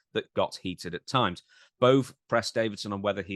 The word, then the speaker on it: Bove: How do you pronounce it? Bose, Boze, It's Bove.